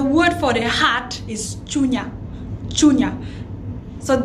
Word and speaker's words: chunya: So in the Kenyan Luo, the word for the heart is chunya, chunya. So it's spelled as C-H-U-N-Y-A, chunya.